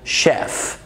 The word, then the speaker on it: chef: بس احيانا الصوت بيبقى الشاه بس، ودي استثناءات، زي في الانجليش طباخ، اوكي، او طباخ محترف، ما بنقولش chef، بنقول chef chef.